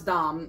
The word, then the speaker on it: Dom: everybody always asks like is it Dam or is it Dom nail polish and I was one of those people and I I asked her last year as well and you know I found out it is pronounce Dom but I thought that